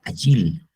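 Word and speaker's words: אֵיל: Y esa palabra árboles, como le dije, se pronuncia así, agil, en el hebreo.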